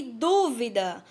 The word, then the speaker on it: dúvida: As palavras são duvida e dúvida, ó, bem parecidas. A diferença é quanto à sílaba tônica.